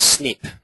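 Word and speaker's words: SNP: at the top and that's kind of pronounced snip is that the lingo which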